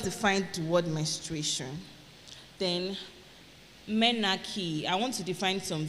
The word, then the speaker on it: menarche: Then, menarche. I want to define some terms for us. Menarche. Menarche is spelled M-E-N-A-R-C-H-E.